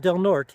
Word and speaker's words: Del Norte: today into um delnort they call it delnort even though it's spelled Del Norte 11 miles and uh